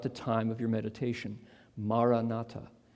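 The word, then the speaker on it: Maranatha: time of your meditation ma Renata say it as four equally stressed syllables ma come Lord this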